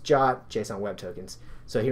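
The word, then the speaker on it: JWT: passport and JW key again that's pronounced job JSON web tokens so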